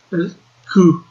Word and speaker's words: coup: Sketchbook also says, "Coup" is pronounced "coup."